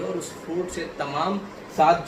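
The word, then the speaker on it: château: अब इसको हम अगर, ये फ्रांस वर्ड है, इसका मतलब होता है महल, अगर फ्रांस का प्रोनाउंसिएशन बोले तो सैतु, सैतु इसका मतलब होता है हिंदी में महल, राइट, इंग्लिश में पैलेस।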